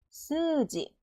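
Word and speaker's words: すうじ: 몇 박이라고 두 박 스지 스지 우 소리가 안 나고 스가 두 박이 스지 자유는 여기 있는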